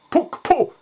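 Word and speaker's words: puqpu': You just have to speak the hard Q, puk, and have the little whisper behind it, puk, and then the P, puk-pu.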